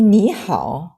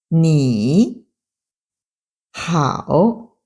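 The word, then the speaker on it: 你好: Quand deux troisièmes tons se suivent, le premier devient deuxième ton. Mais à l'écrit, il reste marqué comme troisième ton.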